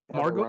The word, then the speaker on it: Margot: Margot, is it Margot? I used to call her Margaret Robbie, but okay, Margot. I think it's spelled Margaret, but it's pronounced Margot.